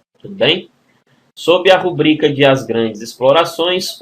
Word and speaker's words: rubrica: a palavra rubrica né muitos pronunciam rúbrica né e põe até acento né n certo é rubrica moçada ó tô grifando aqui a sílaba tônica né uma paroxítona e não a proparoxítona tudo bem sob a